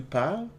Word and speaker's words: parles: When you use tu, which is the you familiar, so if I'm saying tu parles, you don't hear the S at the end, but you drop the R and add an S.